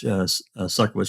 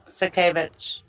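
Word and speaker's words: Sutkiewicz: she can deny, Judge Suckowitz, she can deny this. I'm saying her name wrong. How did we say we were going to pronounce that, Susan, the correct way? Sakawati? Sakavich. Sakavich, yeah.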